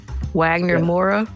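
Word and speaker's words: Wagner Moura: Wagner Mora. I think that's how you pronounce it. M O U R A is his last name.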